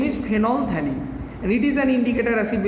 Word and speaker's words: phenolphthalein: এটা হচ্ছে ফেনলথ্যালিন। অনেকে এটা ভুল উচ্চারণ করে, ভুল প্রনাউন্সিয়েশন করে, রং প্রনাউন্সিয়েশন করে, ফেনপথ্যালিন, বাট ইট ইজ নট ফেনপথ্যালিন। This L is not silent, rather this pH is silent, because thalic acid precursor